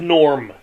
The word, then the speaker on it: Gnorm: movie a gnome named Norm sorry The Adventures of a gnome named Norm Norm is obviously spelled with a g y good that's what